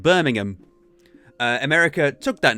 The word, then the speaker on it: Birmingham: which states in but in America it's called Birmingham they really pronounced the ham on it Birmingham it's but here where the name actually came from it's just Birmingham it's an Alabama yeah